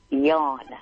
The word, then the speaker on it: John: Unlike the John that works for you, I know it is spelled that way, but it's pronounced different. How is it pronounced? Yan.